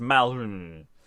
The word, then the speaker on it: Malheureux: I mean, it's the kind of name where, frankly, keeping a sharpness of its pronunciation, it's just Malheureux.